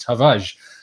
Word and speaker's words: Tavares: getting better my pronunciation you don't actually pronounce the the r in a hard way it's just tavage um it seems i